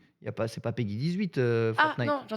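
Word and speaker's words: PEGI: se prononce Peggy 12.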